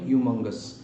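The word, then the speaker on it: humongous: হমঙ্গাস, হমঙ্গাস কথাটার মানে হচ্ছে এক্সট্রিমলি লার্জ অর হিউজ, বা হিউমঙ্গাস কথাটা উচ্চারণ হবে হিউমঙ্গাস, ঠিক আছে।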